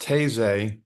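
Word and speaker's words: Taizé: opportunity and it's Friday night October 25th it's pronounced Tas uh it's it's a uh ecumenical uh service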